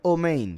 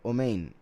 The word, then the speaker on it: amén: caso en el egipcio Amén am quiere decir ciertamente los ashkenazi pronuncian omin por si algo omin Porque cambian algunas vocales de a a o Y ese es el